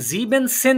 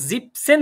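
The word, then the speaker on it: siebzehn: জিবেন কিন্তু এখানে জিপ জিবসেন কারণ এইটা যখন জিবেন সেন বলবেন খেয়াল করেন জিবেন সেন তখন এন এরকম শব্দ এই যে এন প্রোনাউন্সিয়েশন টা কি তাহলে খেয়াল করেন যখন আমরা জিপসেন বলছি ঠিক আছে এই জিনিসটাকে যদি আমরা জিবেন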